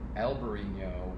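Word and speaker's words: Albariño: of things in wine alberino would be the spanish pronunciation in alvarino a little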